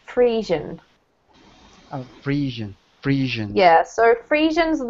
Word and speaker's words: Friesian: Today, a single breed, Holstein Friesians, account for 90% of dairy cattle raised in the U.S., and another 4% are Jersey cattle.